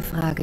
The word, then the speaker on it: Frage: Es war nur eine Frage der Zeit. What is the vowel sound at the end of Frage? If you guessed a schwa, you're right.